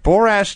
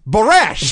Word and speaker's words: Borash: this point I thought have I been saying his name wrong for 20 years right because they're saying look it's barash yeah barash barash is